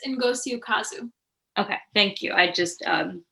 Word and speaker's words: Ngozi Ukazu: series by, I'm sorry, can you help me pronounce the name? I always do it wrong. I believe it's Ngozi Ukazu.